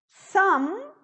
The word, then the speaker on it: some: Some, esse E não pronuncia.